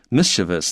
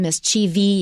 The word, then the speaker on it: mischievous: 好，所以这个 mischievous 调皮的这个字呢，重音应该是在前面啊。那这个 Karen 老师讲，他小时候呢，这个老师特别跟他们讲说，重音在前面哦，不要把它念到后面去了。不只是重音的问题，是多出一个音 mischievous 也多了一个 e。而且会多出一个mischievous 会多一个 e 的声音 vious 那所以不要这样念哦。那这个 Karen 老师讲很有趣，就是老师会这样提醒，就表示很多人这样念啊。但是那个当时或者现在当时至少当时认为那个是不对的、不正确的发音。好，那不过呢，Karen 老师提醒各位，但现在他听到很多 native speaker 也都是念成 mischievous。I think it's the majority now，而且是大多数都是这样念啊。那所以各位你可以自己做选择啊。那我是觉得还是念 mischievous 因为那样子你比较好，你最少不会拼错字。